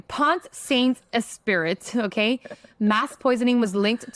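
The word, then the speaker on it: Pont-Saint-Esprit: It's Point Saint. That's a French for sure. Like Point Saint Esprit. Pensant. Pensant. Yeah. Esprit. All right, I'm going to say it like an American. Pont Saint Esprit, okay?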